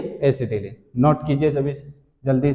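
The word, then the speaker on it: acetylene: इसका common name, common name है एसिटिलीन, क्या है, एसिटिलीन, एसिटाइलीन भी बोलते हैं, जन सही प्रोनाउंसिएशन है इसका, एसिटिलीन, ठीक, वेल्डिंग पर्पस यूज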